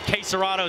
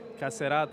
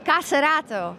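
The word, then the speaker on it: KSCERATO: You told me how to say it correctly. Caserato is the correct way. Caserato.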